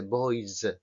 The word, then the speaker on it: boys: ejemplo en Spain Spain Pero hay una s que nos ha salido antes que es una s Sonora vibran las cuerdas vocales Como por ejemplo el final de Boys lo estoy marcando mucho para que lo veáis vale Spain Boys Pero